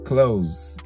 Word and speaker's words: clothes: a look at some clothes. Clothes é tipo roupa, né? Só que apesar de escrever com TH, né? ES, a pronúncia é como se fosse aquele close de fechado, né?